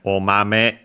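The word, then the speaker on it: お豆: And we have omame ga. So after the me, the accent falls, is lower.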